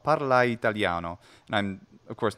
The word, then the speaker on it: parla italiano: Or parla italiano. Parlai, and the I is contracted into one syllable, but it's not parla italiano. That sounds a little off. Parla italiano.